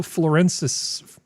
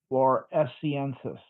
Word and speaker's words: floresiensis: so they talk about this this proto-human Homo florensis. I can't pronounce anything. How do we pronounce this, Skep? Let me see. I need to make it larger. Hold on. Yeah, Florensis. Floresiensis. Floresiensis. Okay. Homo floresiensis.